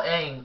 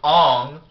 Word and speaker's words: Aang: And why are you mispronouncing the names? They call Aang Ong.